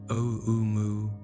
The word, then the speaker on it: Oumuamua: 3I Atlas is estimated to be roughly 1 million times more massive than the first known interstellar visitor, Oumuamua, which researchers pronounce as Oumuamua, and about 1,000 times more massive than the second visitor, 2I Borisov.